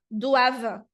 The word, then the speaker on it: doivent: Então, a terminação ENT nos verbos é uma terminação muda. Então, como aqui é o verbo dever, o verbo devoir, então não vou pronunciar, tá? Doivent être attaché tant, e